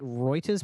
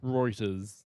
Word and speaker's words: Reuters: Reuters. That's how you say it.